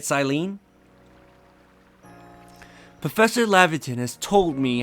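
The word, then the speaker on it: Cyllene: You may call me Silene. At least I'm pretty sure that's how you say it, Silene.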